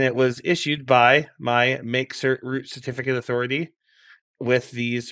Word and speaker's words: mkcert: We're talking about mkcert this week, which is how I believe you pronounce it, but it's spelled mkcert.